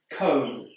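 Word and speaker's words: comb: Cone. This word's got a B at the end, but we don't pronounce it.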